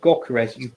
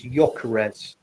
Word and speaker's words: Gyökeres: It's not Gyökeres. It's a silent G. It's Gyökeres.